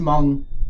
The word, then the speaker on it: Hmong: It's just Hmong. Yeah, it's the H is silent.